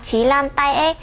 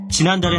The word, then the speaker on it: 지난달에: 한글로 쓸 때는 지난달에 이렇게 쓰지만요. 발음할 때는 지난달에 이렇게 발음하셔야 됩니다. Trong tiếng Hàn khi được viết là 지난달에 nhưng khi phát âm được nói là 지난달에.